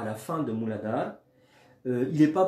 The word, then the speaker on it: Mooladhara: Et vous voyez, par exemple, le premier, donc celui qui est en lien avec le périnée, qui est le périnée, Mooladhara Chakra.